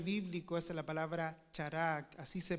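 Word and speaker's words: χαρά: en este vocabulario bíblico Esa es la palabra chará así se pronuncia Recuerda que y estoy dando estos Estas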